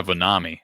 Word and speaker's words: Vonema: So Robert says Vonema is pronounced Vanami. Let me play it on my thing so I can hear it. DJ Vonami. Yeah, Vonami.